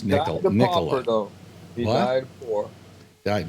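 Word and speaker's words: Nikola: It's pronounced Nicola though.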